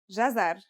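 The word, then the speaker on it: جزر: It's pronounced jazar and means carrot.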